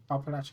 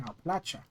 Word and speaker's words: Appalachia: Opalacha Opal. I was mispronouncing that heavily though.